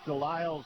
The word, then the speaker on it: Dile: I sat with uh uh Maverick Dile's uh mom and aunt and just great people from Quebec. Uh tell me that it's pronounced Dil, but they said keep saying Dile.